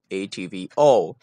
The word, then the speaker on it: ATV-0: In the year 1964, a new television station signed on in the city of Melbourne called ATVO. Pronounced O, not zero.